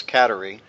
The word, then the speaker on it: Kateri: every weekend her name was you pronounced that caterie right not CER it's katerie caterie that's the way we pronounce it yeah but over here they say